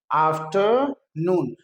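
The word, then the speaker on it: afternoon: आफ्टरनून। आर को silent कर दीजिए।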